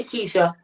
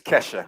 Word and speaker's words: Kesha: Hey, Keisha. That's Kesha. Please pronounce her name Kesha.